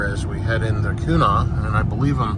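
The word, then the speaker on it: Quanah: my videos um and they gave me the correct pronunciation and I do believe it's kuna qu a n a h and uh interesting area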